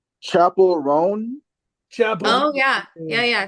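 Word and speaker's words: Chappell Roan: think it's I want to make sure I'm pronouncing her name right chapel rone chapel oh yeah yeah yeah Chapel rone uh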